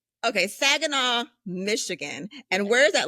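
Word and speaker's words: Saginaw: I was born and raised in Sagen, Michigan. So, you got it right. Okay. Sagena, Michigan.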